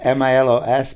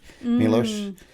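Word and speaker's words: Miloš: It's Milos, but we have a little V on top of S, which is pronounced like SH, Milos.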